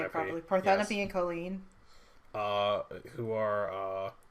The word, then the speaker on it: Parthenope: Parthenope yes.